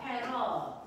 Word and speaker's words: 패럿: 네.이 전기 용량을 나타내는 단위는 패럿이라고 읽어요. 패럿.